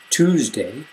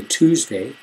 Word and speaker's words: Tuesday: For example, Tuesday. I say Tuesday. Some people say Tuesday. If you can hear the difference, Tuesday, Tuesday.